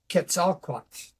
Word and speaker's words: Quetzalcoatl: to be foreign words, but Nahuatl pronunciation of that particular serpent god is Quetzalcoatl. So, Quetzalcoatl. Oh, I love right, that. yeah. So I just sort of Americanized it or westernized it into Quetzalcoatl, and And what yeah.